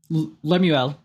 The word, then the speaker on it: Lemuel: this yes yeah teaching it to King uh Lemuel I think that's how you pronounce it Lemuel I yep who knows lemu lemu Le mule like a French mule no okay um it's Lemuel L I like I mean that sounds better